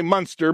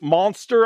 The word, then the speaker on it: Munster: I say Munster. My wife corrects me every single time. If she was here right now, she'd be like, you're saying it wrong, Todd. All right. It's monster, I guess.